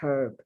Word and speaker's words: herb: dude a person named herb and then there's herb like herb spices and that's not pronounced the h is not pronounced then you have the